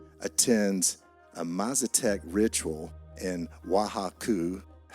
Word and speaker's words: Oaxaca: Gordon Wasson attends a Mazatec ritual in Oaxaca. That didn't sound right, but it's spelled like Oaxaca, but it's Oaxaca, Mexico.